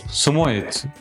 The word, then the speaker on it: Samoyed: Samuet dostumuz Smoet olarak telaffuz edilir.